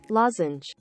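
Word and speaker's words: lozenge: DEC well turned out the word is English and is actually pronounced like this loen okay guess that's how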